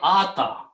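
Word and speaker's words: آتى: Okay, now this pronunciation will be ata, because there are 2 alifs, so ata.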